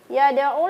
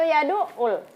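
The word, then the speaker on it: يدع: Mana yang benar ya? Kita lihat di ayat itu, di surah itu, yad'ul atau yadu'ul? Yadu'ul. Iya, jadi yadu'ul ya, anak soleh-soleh yang ada di rumah maupun yang ada di studio.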